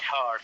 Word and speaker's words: Hart: Although we have not heart, we have H-A-R-T, but the pronunciation heart house.